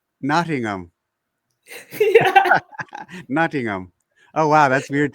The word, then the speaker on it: Nottingham: Don't pronounce the H. Nottingham. Nottingham. Nottingham. Oh, wow. That's weird to pronounce the H. Okay. Or you say Noddingham.